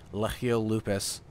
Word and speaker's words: Legio Lupus: We have the Fancy Cloud Dancers versus Legio Lupus, as I was informed to pronounce the blue team's name correctly.